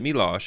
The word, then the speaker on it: Milosh: But he just pronounced it Milosh, and he probably asked him how to pronounce it.